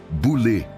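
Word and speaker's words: βουλή: A palavra é boule, que se pronuncia boulé.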